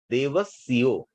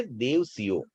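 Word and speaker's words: देवसियो: कई व्यक्ति देव सयो बोल देते हैं देव सिओ देव सियो में आधा स और सी आता है लेकिन एक्चुअल शब्द है देव सियो तो जब आप बुक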